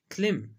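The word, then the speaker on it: climb: क्लिम। क्लिम हम कहते हैं चढ़ना। क्लिम। यहाँ पर वर्ड बी साइलेंट है।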